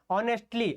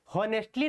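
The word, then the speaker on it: honestly: आगे लिखा हुआ है ऑनेस्टली, ऑनेस्टली के लिए क्या करेंगे, हॉनेस्टली नहीं होता है, ठीक है, उच्चारण का थोड़ा सा ध्यान रखेंगे आप लोग, हॉनेस्टली नहीं होता, ऑनेस्टली होता है, ध्यान रखेंगे।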